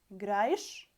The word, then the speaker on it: играешь: Играешь, учишь. Actually, it sounds like ish in the end.